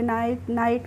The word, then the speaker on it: know: तो वही रूल है, K के बाद N आएगा तो वहाँ पे हम K का प्रोनाउंसिएशन नहीं करेंगे। तो KNOW है तो हम इसको क्या पढ़ेंगे, इसको हम पढ़ेंगे नो, क्या पढ़ेंगे, नो नहीं पढ़ते हैं, इसको नो पढ़ते हैं।